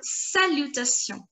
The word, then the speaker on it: salutations: We have just done the pronunciation of the letter A and it is pronounced as a. Together it will be saluta, saluta, saluta, saluta. And the pronunciation of T-I-O-N-S is going to be salutation, salutation, T-I-O-N-S, sion, sion, sion, sion.